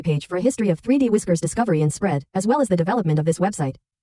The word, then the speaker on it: 3DWI.SCR: The full title is 3D Workers Island, but most of us prefer to use its file name instead, pronounced 3D Whisker.